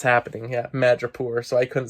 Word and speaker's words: Madripoor: Um, yeah, I got that name wrong for the last episode. Madripoor. I was saying like Mondori.